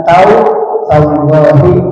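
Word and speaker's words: تالله: Bisa disebut dengan wallahi, billahi, dengan tallahi kalau membacanya memakai majrur. Wallahi demi Allah, tallahi demi Allah, billahi demi Allah. Maka membacanya harus dijarkan dengan memakai kasrah.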